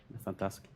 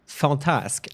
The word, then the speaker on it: Fantasque: It's Fantasque, not fantastic.